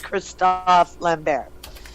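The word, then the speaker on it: Christophe Lambert: two different ways yes if you pronounce his name the way it should be pronounced its Christophe LeBaron and many people don't know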